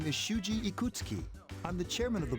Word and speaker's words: Ikutsuki: My name is Shuji Ikutsuki. I'm the chairman of the board for your school. Suji Ikutsuki. Ikutsuki. Hard to say, isn't it? Ikutsuki. Definitely sounds completely different than the way it's spelled.